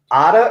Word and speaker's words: Ada: of fun things this season our 13th is otta or arter by vladimir nabokov first time i pronounced it correctly in the entire run of